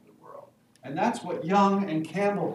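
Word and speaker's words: Jung: and young thought that carl young this is pronounced like a y thought that the more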